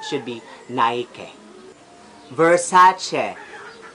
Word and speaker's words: Nike: And the most common error, especially sa mga Filipino, ang pag-pronounce natin ito is Nike. Nike. And it should be Nike. Ang tamang pag-pronounce should be Nike.